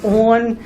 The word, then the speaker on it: onn: Has anybody ever heard of a brand called On, and it's spelled ONN?